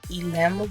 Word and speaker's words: Elim: It is pronounced, I think I'm saying it right, Elim Wig, E-L-I-M.